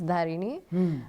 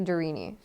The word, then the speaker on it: Dharinee: see someone you know who I think can pronounce my name then I'll say okay it's darini um otherwise I say darini okay so it's easier